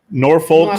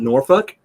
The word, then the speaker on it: Norfolk: So you say the L, the Norfolk? Yeah. No, you didn't say it. Norfolk. I did. You say it like Jersey. Norfolk. Yeah, well, Norfolk. So you pronounce the L. Okay. I it's one of those words that wherever you go in the country, whether they pronounce the L or not.